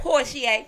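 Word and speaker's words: Porchie: it again for the people in the back porier right how we find how we find you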